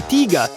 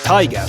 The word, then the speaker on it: Tiger: As for the people upset that I'm now saying Tiga instead of Tiger, all pronunciations are attempted in their local language.